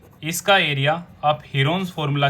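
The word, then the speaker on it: Heron's: और इसके एरिया को हम प्रूव भी कर चुके हैं हीरोन्स फॉर्मूला की हेल्प से। हीरोन्स की एक्चुअल प्रोनाउंसिएशन है हिरन्स फॉर्मूला।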